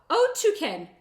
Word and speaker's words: Otyken: Otyken. Otyken. Oh, look. He gave us the pronunciation.